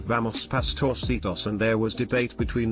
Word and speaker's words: Pastorcitos: I said the soft C is pronounced like an S. An old lady in the group said it was pronounced like the CH in cheese. I said you're thinking of Italian. In Spanish it's pronounced as an S or in many European Spanish dialects like a TH.